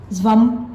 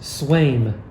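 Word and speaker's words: Sveum: Zvam. Actually, it's pronounced Swaim. Yeah. What? Yeah. Silent V? Yeah. Well, the V is a W.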